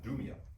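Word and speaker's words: Idumea: And a great multitude from Galilee followed him and from Judea and Jerusalem and I don't know how you pronounce that. Adumia.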